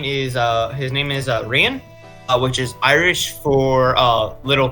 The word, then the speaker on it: Rian: Gaelic is fucked. Every region has different pronunciation. This is pronunciation I use. I'm not wrong, but I'm not wrong. It's just one that I use. The other ones people use is not wrong. I just call it Rian.